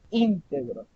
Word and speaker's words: íntegro: ejemplo que público si tenemos integró con la tilde inicial en la mayor fuerza al inicio estamos hablando de íntegros estamos hablando de una